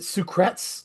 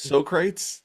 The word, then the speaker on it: Socrates: is on this and I always pronounced it Sucrets like I was just ridiculous Socrates like Bill and Ted yeah Socrates bad bad